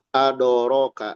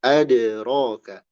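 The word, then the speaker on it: أدراك: Jangan terpengaruh oleh ro. Jangan adoroka, ado ado. Tapi adroka, adroka. Qalqala dia punya bunyi yang independen, tidak terpengaruh oleh ee harakat atau huruf baik setelahnya maupun sebelumnya. Sehingga jangan jadi adoroka ado ado. Nah, itu jadi keliru.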